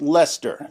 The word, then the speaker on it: Leicester: At the time, there had just been serious disturbances in Lester. Yes, Americans, it's pronounced Lester.